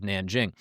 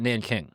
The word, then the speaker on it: Nanjing: We'll start off first with the city of Nanjing. Many people call it Nanking. That's the pronunciation that Americans in the English language speaking world used around 1937-38 when this atrocity happened.